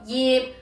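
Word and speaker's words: 曄: 呢個字普通話讀耶，粵語讀業，係樹葉嘅葉，唔好再讀成華麗嘅華啦。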